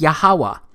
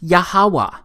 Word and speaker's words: Yahweh: simple back then that it vocalized each consonant with an ah sound without specifically marking that sound between consonants. So this YHWH, it's pronounced Yahweh.